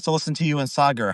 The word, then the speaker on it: Sagar: I used to say cigar by accident, but it's Sagar.